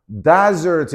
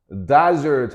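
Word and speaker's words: dessert: 어 이거 발음주의해야 되지? 그지? 이거 desert 이렇게 하면 안 돼. 스펠링이 다르단 말이야. 맞아. 사막이라는 단어는 스펠링이 어떻게 돼 있어? 그렇지. S가 두 개가 아니라 s가 하나지 그지? 사막이라는 단어 구별해야 되는 거야. 얘는 발음도 다르지 그지? Desert 하면 이거는 명사 명사로 이때는 사막이 되는 거고 desert 하면 여기 뒤에다가 여기에 강세가 오지 그지? 그래 s는 두 개인 거야 그지? 구별할 수 있어야 돼.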